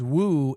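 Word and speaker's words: 五: prince four five because Woo is how you say five in uh Chinese in uh Leai's the fourth prince.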